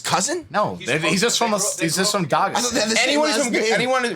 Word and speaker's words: Dagestan: No, he's just from Dagestan. anyone from anyone. How do you pronounce that country? Dagestan.